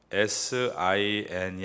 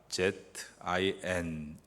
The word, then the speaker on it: Zin: 여기에 신광야는 영어 표기로 SIN이 아니라 ZIN 광야입니다.